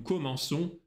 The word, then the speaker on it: commençons: Обращай внимание на форму «nous». Nous commençons, c'est пишется через cédille, хвостик, чтобы получилось звук «с», а не «к».